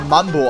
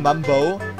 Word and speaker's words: Mumbo: Ja, eigentlich wird er ja Mumbo ausgesprochen. Weil im Englischen Mumbo.